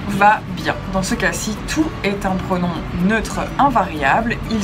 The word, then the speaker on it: toutes: Toutes remplacent les paires de chaussures. Il s'agit d'un pronom féminin pluriel, écrit T-O-U-T-E-S, prononcé toutes, et qui se place après la forme verbale simple.